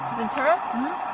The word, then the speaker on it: Ventura: Ventura? Like Ace Ventura? Perfect example.